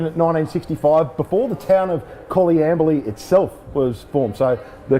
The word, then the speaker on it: Coleambally: Coleambally. Coleambally. Yes, you were foxing me, go on. Yeah, the Coleambally Footy Club, established in 1965, before the town of Coleambally itself was formed.